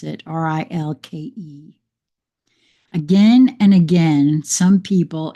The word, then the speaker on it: Rilke: I think that's how you pronounce it, Rilke.